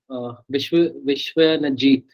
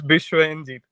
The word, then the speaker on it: Bishwanjit: Vishwanajit, did I pronounce it right? It's Bishwanjit.